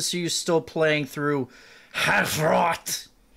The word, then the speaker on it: Hrot: you still playing through half roth that's the correct way to say yeah patrol of a